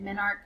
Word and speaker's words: menarche: that first menstrual cycle, menarche. Some people just say spermarch and menarche, and they don't pronounce the E at the end.